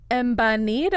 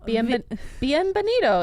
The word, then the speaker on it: Bienvenido: Embanito a mi. Yep. Close enough. That's okay. what it is. It's embanito. No, Bienvenido is how you say it.